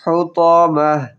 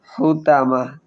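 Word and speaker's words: الحطمة: লায়ুমবাযান্না কাল্লা লায়ুমবাযান্না feel হুতামাহ হুতামাহ হা হলকের মধ্যখান থেকে উচ্চারণ হবে ফিল হুতামাহ। ত আছে, এখানে আমরা একটা ভুল করি, তা পড়ি হুতামাহ, তা পড়া যাবে না, তাহলে ভুল হবে।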